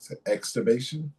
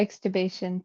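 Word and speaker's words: extubation: But but exubation. Yeah, exubation.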